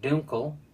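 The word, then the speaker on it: Dunkel: of the of the Dunkle which is actually pronounced Dunkle I think I mentioned that in the last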